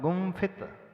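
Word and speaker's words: गुम्फित: है गुम फित फत तो इसमें हम जो बिंदी उसका उच्चारण क्या करेंगे हा न की म म म क्यों म किया क्योंकि अगला जो वर्ग है प फ ब भ म प वर्ग का अक्षर है जिसमें अंतिम अक्षर म होता है तो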